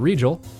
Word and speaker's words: Regal: Is it or is it still Regal? I want to make sure I've got that right. Because I hear people pronouncing it differently all over the place. I know I asked you once how it was pronounced, and I'm pretty sure you said Regal.